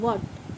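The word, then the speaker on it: what: जैसे हमने लिया डब्ल्यू एच ए टी इसे हम व्हाट पढ़ते हैं। व्हाट वाहट नहीं पढ़ते।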